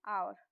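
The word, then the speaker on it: hour: birds प क्या है आवर इसको ववर नहीं पढ़ेंगे सबसे पहली बात तो यह देखिए इसमें एच जो है व साइलेंट रहेगा हम इसको पढ़ेंगे आवर ठीक है आर का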